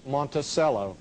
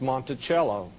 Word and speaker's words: Monticello: A lot of people call the name Monticello. Actually, the correct pronunciation is Monticello. Monticello, two French words.